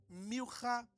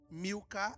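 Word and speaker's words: Milca: Norha, Rogla, Milha e Tirza. Porque a P, por que que o senhor falou assim? Porque em hebraico se pronuncia assim.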